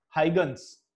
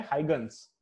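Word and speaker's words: Huygens: तो इसका प्रोनाउंसिएशन क्या है, तुम लोग गूगल पे भी देख सकते हो क्या है प्रोनाउंसिएशन इसका, हाइगन्स, इसका प्रोनाउंसिएशन क्या है, हाइगन्स।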